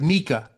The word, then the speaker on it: Miikka: at the moment oh okay great all right Mika yes okay great that's a perfect pronunciation Perfect all right that that's a first